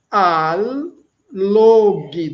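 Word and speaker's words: allog: Log, olha aí, log é atrair agora nós temos embaixo al log, dois ls, os dois ls são pronunciados al log, também atrair.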